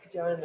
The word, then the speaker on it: Joanna: So Joanna is spelt with an H that you don't say. Mm-hmm. So like in German they go Johanna, but in English you just say Joanna.